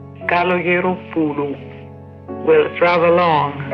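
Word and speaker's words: Καλογεροπούλου: – Kalogeropoulou.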